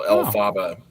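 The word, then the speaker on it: Elphaba: So it's like a kind of a phonetic pronunciation of LFrank Bomb. So El Faba.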